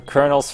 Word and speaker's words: colonel: stop no meing they thought it stood for Colonel's fried chicken and they thought the as in